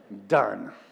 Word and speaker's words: Dunn: It's a place called Dunn. D-U-N-N. Just one syllable. Done. And they're done with it. And so it's just like done.